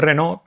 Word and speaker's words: Renau: arte española que es Josep Renau, pero se pronuncia Renault, era de origen valenciano.